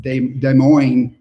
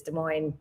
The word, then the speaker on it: Des Moines: Yeah, Des Moines is pronounced Des Moines. That's true, it is Des Moines.